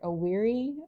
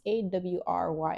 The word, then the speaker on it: awry: What's the English word? A weary? Oh, it's AWRY.